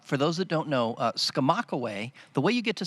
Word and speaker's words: Skamokawa: So Skamokawa, for those, how do you spell it? This is an evil word. Yes, it's Skamokawa.